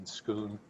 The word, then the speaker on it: Schoon: Soon or Shun. I'm sorry if I mispronounced your name. Shun. Thank you. My name is Schoon.